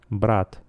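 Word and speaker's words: брат: Hermano suena igual en los dos idiomas, brat.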